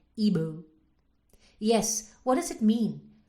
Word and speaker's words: Igbo: said my nigerian name it's an igbo name isn't it she pronounced it ebu yes what does it